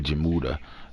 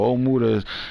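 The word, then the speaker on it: Ojemudia: and you got michael ojamuta is on hero oh my mom said his name omura she said the j is silent so omuda is number nine at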